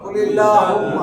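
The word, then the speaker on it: قُلِ اللَّهُمَّ: লামে আল্লাহ ডাইনে জের, লামে আল্লাহ ডাইনে জের, লামে আল্লাহ পাতলা, লামে আল্লাহ পাতলা। কুলিল্লাহুম্মা, কুলিল্লাহুম্মা কুলিল্লাহুম্মা।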